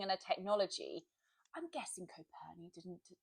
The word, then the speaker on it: Coperni: So like my natural starting point is, I think this is how you say it, Coperni. Yes, Coperni.